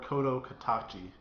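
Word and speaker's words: 聲の形: Okay, so to get it correct, it's actually, it can go by A Silent Voice, The Shape of Voice, or Kodo Katachi.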